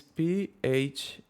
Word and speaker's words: Phong: Now we're gonna use the, I think I will pronounce it correctly, Phong. So it's Phong, like this.